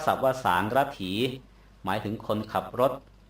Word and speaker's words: สารถี: ก็ มา จาก วังกะ น่ะ นะ วง ต้อง สะกด ด้วย ก ไก่ คารัน ด้วย ต่อ ไป สา รถิ ไทย เรียก ทั ศัพ ว่า สาระถี หมาย ถึง คน ขับ รถ รถ อะไร ก็